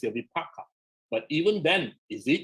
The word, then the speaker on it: vipaka: If you want to say it correctly, it's the vipaka.